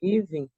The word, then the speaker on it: leaving: When are you leaving? Leaving. Gente, esse When are G, you leaving? esse G, gente, a gente quer falar, mas não fala.